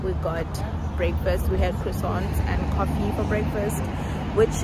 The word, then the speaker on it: croissant: got breakfast we had croissants and coffee for breakfast which is actually what the French breakfast is it's either you get a croissant or pronounced kuson um oh you get